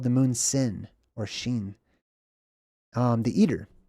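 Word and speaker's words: ש: Not a W, it's the letter SH, basically, okay? Some people couldn't pronounce SH, so to them it was the letter S. It was a S sound, but it originally is more of a sh sound, okay? This is Sin or Sheen.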